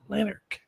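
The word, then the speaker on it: Lanark: engl Sheriff of Lan lanarch lanarch that's a tough one lanarch yeah that's how you pronounce it which is basically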